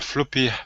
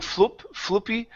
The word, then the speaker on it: floppy: So notice here I'm not saying floopy, but open the mouth. Floppy. Floppy.